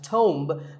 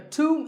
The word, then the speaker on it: tomb: often wrongly pronounced as tome but the bee is silent and the O is pronounced with an O sound so to a tomb is a place like